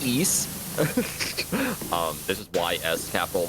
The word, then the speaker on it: Ys: Okay, so it's pronounced East.